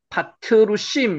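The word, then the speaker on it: פתרסים: 바드루심. 요것도 실제로 읽으면요. 파트루심 요렇게 일집니다.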